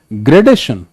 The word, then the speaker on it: gradation: TION, SION, IFY, ITY, ANS, ANSE are accented on the syllable just before these letters. For example, gradation.